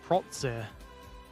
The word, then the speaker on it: Protze: It's pronounced Protze. Protze. Got to enunciate the H.